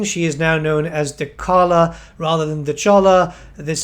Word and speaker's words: Dechala: just a quick note we mispronounced Dar Cara's name throughout the rest of our interview so instead of dechala please imagine we are saying dalala on with the show